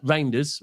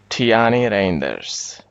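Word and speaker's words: Reijnders: And then I think they've probably looked at Roy Raers or Roers. I'm saying it wrong. Give me one second people. Every time every time that I go off, Tani Rainders, thank you.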